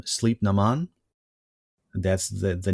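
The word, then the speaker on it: Sliabh na mBan: is uh armored Rolls-Royce in Irish it's pronounced something like um sleep Naman that's the the name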